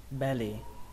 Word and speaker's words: belly: Các bạn tưởng tượng là nó có một âm L thôi, lướt nó qua thôi, belly, belly. Từ này có nghĩa là bụng, belly. Trọng âm của nó rơi vào âm đầu tiên, âm B, xuống giọng âm thứ hai, lì, belly, belly.